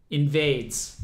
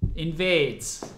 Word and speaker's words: NVDES: So this is going to be versus, I'm going to say Invedes versus Sean Bo. Now, maybe I can look up a pronunciation for that real quick. That would be funny. Pronounce, yeah, it's literally a Google result. Invades, obviously. Invades. I should have known.